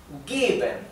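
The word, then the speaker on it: geben: de celular Perdón Bueno given lo pronuncié más largo Sí por qué Porque la e la e o mejor dicho cualquier vocal que se encuentre antes de una consonante sola y que después venga otra vocal más sí se pronuncia más larga O sea si es si la e viniera antes de una doble consonante no se pronunciaría larga se pronunciaría cortita también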